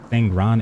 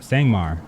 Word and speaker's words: Sangmar: Granted, the 3 factions are Midlander, Ismirs, and the, how do you say it? Sangran Empire? Sangmar. Oh my god, I missed that by the mark.